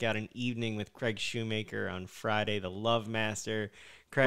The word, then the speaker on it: Shoemaker: By the way, it's Craig Shoemaker, folks, not Craig Schumacher. It drives me, hello, Mr. Schumacher. There's no umlaut. Did I say it right, at least? Did I get it right? You did. Yes. I always tell people, it says Shoemaker. You make shoes. You don't mock shoes.